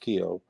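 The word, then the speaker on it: Kiyo: released the first song uh I call it Kio K well that's how it's pronounced it's my okan stepmother who passed during Co k i yo but it's it's pronounced Kio um and so all the seven songs I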